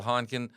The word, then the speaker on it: Heinken: us uh is Heineken. Um it's spelled like Hineken but without the extra e.